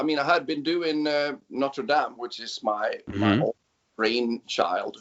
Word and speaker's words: Notre Dame: And so I did that with Notre Dame, or Dame, if it's going to be French pronunciation.